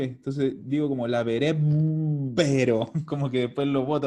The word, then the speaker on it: laverebbero: casi, me faltó una sola sílaba. Laverebbero.